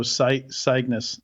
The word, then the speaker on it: CYGNVS: I just have to make the V a U. So Cygnus.